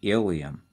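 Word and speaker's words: ileum: and the last and longest section is the ilium i-l-e-u-m not to be confused with the bone that's the ilium that's spelled i-l-i-u-n so that's the small intestine and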